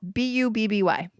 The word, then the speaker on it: bubby: It's spelled B-U-B-B-Y.